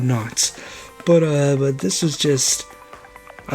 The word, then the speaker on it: Knotts: I said his name wrong because I was a child. I called him Don Nuts. Not Don Knotts.